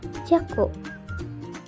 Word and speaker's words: 若: Untuk kanji ini onyominya adalah jaku.